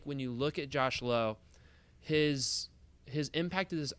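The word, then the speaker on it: Lowe: want to start with the one that pronounces his last name low Josh low has had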